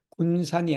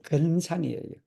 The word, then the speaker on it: 근산: 그래서 그 발음식에 말하기를, 이는 뭐 군산이 아니고 근산이에요. 근산.